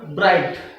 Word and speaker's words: bright: a combination of letter g h and t g will be silent and you will pronunciate it as bright next ritsp GH ght